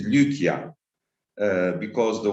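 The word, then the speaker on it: Lycia: uh one clarification that westerns always are confused with the name and they call it lisia lysia uh in many ways but proper pronunciation is lucia uh because the y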